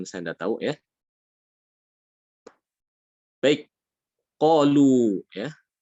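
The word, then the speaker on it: قالوا: Baik, qalu ya. Qalu di sini dia ditulis alif di situ ya, tapi dia tidak diucapkan. Seakan-akan di situ alif tidak ada ya.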